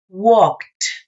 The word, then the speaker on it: walked: Bueno, pues entonces en pasado esa ED va a sonar como T. Walked. Pronuncia usted la K y enseguida la T.